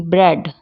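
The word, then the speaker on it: bread: में साइलेंट रहता है जब वो ईए के साथ हो जैसे कि बी आर ई एडी ब्रेड थ्रेड हेड स्प्रेड इसमें एक की कोई अलग से साउंड नहीं आएगी आप यहां देख सकते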